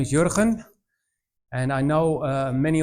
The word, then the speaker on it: Jurgen: to you all uh so my name is yuran and I know uh many of you will try to pronounce my name well if you're not from